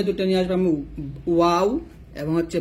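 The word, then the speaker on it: و: তো ওয়াও জবর কি হবে, ওয়াও জবর ওয়া হবে, ওয়াও জবর ওয়া। দুই ঠোঁট গোল করে ওই ঠোঁট থেকে আপনাকে উচ্চারণটা নিয়ে আসতে হবে। কি হবে, ঠোঁট কি হবে, ঠোঁট গোল হবে।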